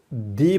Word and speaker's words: the: तो इस ज़हन में एक बात याद रखिएगा, हम इसको दी पढ़ते हैं बिफोर वाउल्स। वाउल्स क्या होते हैं? AEIOU। इससे पहले हम इसको दी प्रोनाउंस करते हैं, दी इंस्ट्रक्टर। वाउल्स के अलावा जो बाकी लेटर्स बचते हैं उनको कॉन्सोनेंट कहते हैं, और उनसे पहले अगर ये हो तो इसको हम दा पढ़ते हैं।